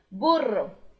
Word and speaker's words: burro: é pato é fato o burro mesma coisa se escreve igual mas a pronúncia é bem diferente já que o RR em espanhol vibra muito libra duas vezes burro burro burro e o porco em